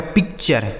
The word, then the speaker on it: picture: आगे PICTURE, तो PIC से हो गया दोस्तों पिक, PIC से पिक। TURE का उच्चारण हो गया चर, इसे पढ़ा जाएगा पिक्चर।